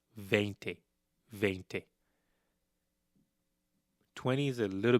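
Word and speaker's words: veinte: 17 Dy Ce 18 Di oo 19 Di when we get to 20 it's vente vent 20 is a little bit unique from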